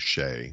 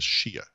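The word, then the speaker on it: Shea: The main character is a man named Shay, which is an Irish name. It's spelled S-H-E-A, which I, of course, in my head read as Shia.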